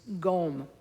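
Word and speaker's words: སྒོམ: meditation in Tibetan is gom. It's spelled, in English alphabet, it's spelled like G-O-M, gom.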